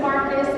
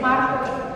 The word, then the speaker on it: Marcos: Porque no es Angelina, es Angeline, porque no es Mary, es Maritza, porque no es Marcus, es Marcos.